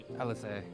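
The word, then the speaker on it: Alisaie: introduces himself Alfinod, but you do not pronounce all the letters in his sister's name, for sure. Alize. Don't pronounce the E, I think.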